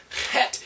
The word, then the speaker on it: Het: It's kind of a Het, Het, and it's a quick guttural.